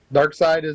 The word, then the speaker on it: Darkseid: Darkseid that's how it's spelled and pronounced.